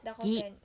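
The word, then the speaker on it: ぎ: Psen is pronounced as gi, ki, gi.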